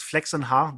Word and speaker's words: Flächsenhaar: It's called. Mm. Because my family name is Flächsenhaar. That's how they pronounce it in Germany.